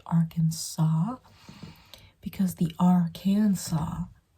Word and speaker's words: Arkansas: not like Kansas it's its own State it's pronounced Arkansas because the AR can saw saw and we